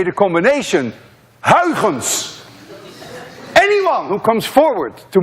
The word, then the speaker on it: Huygens: You see, this sound, UY, is pronounced in Dutch as ui. None of you can say ui unless you're Dutch. To make it worse, this sound you don't have either in English. That's a ch.